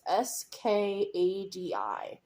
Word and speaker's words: Skadi: So this is the shade Scotty. I assume is how it's pronounced. It's Skadi. I always wonder if I'm pronouncing it correctly every time I have to pronounce this shade.